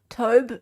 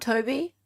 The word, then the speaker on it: Tobe: Oh, Tobe, not Toby. Is that how it's said? Sorry, that's a strange name to me. Tobe, not Toby. Okay, that makes more sense then. Because I read that as Toby.